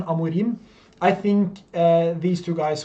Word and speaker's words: Amorim: I think that is the right pronunciation, Amorim.